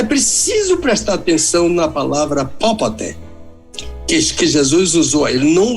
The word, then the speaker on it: popote: Não houve um período, é isso que Jesus disse com popote. P-O-P-O-T-E.